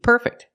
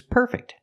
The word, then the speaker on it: perfect: perfect the house is perfect but she's not using the adjective she's using the verb and the verb is pronounced differently we say perfect we move the stress to the second syllable the verb is perfect